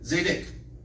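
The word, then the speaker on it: צדק: Zedek.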